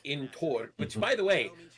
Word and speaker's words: Thor: hard ths, like in Tor. Which, by the way, Thor is not pronounced Thor; it's pronounced Tor, with a slight th but a harder t.